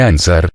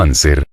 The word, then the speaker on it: anser: la historia de ansar no se dice ansar sino anser clamaba plomo pero el